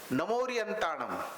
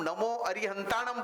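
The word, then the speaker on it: णमो अरिहंताणं: जो मैंने देखा कि 99% लोग जो गलती करते हैं वो नमोरियंताणम, हमको क्या लगता है हम बरोबर बोले, लेकिन साइलेंट ले गया। हमको मालूम है कि हम नमो अरिहंताणम बोलना चाहते हैं, लेकिन नमोरियंताणम।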